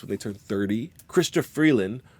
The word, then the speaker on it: Freeland: they turn 30 christop Freeland pronounced free like the trade agreement I thought we had with the US and land like that thing that Rocks pop out of and Karina Gould pronounced